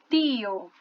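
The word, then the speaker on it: tío: O detalhe vai estar no T com I, tá bom?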